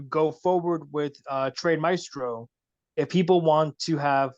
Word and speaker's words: Maestro: of people don't realize Maestro is spelled a e m a e s s t r o so it's not within a long eye it's m a e it's an Italian word actually um a good